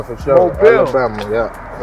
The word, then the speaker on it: Mobile: Mobile, for sure. Mobile. Alabama, yeah. That's how you pronounce it.